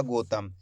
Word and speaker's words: गौतम: दोस्तों गौतम नहीं पढ़ना अगर गौतम पढ़ोगे तो इस तरीके से ओ की मात्रा का उच्चारण हो जाएगा गौतम जबकि अपन औ की मात्रा पढ़ रहे हैं तो औ करके उच्चारण करेंगे एक बार फिर से